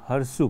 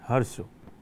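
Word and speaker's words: hirsute: हैं बुद्धिमान मानव हर्ष स्पेलिंग देखें इसका एच आई आर एस यू टी ई है ना लेकिन इसका जो प्रोनंसिएशन है उच्चारण है वो हरशु पढ़ते हैं हरशु जिका मतलब हैरी होता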